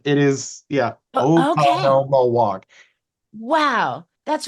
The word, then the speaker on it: Oconomowoc: Okay, so how do you pronounce it? Oconomowoc. It is, yeah, Okay. Oconomowoc.